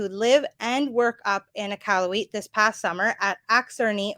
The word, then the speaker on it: Iqaluit: So I was saying Iqaluit for Iqaluit. So Iqaluit actually has a nice little French flair to it.